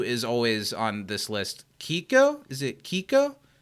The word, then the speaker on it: Keiko: always on this list Kiko is it Kiko what are the letters k-e-i-k-o Keiko Keiko in Japanese you pronounce every vowel interesting okay and the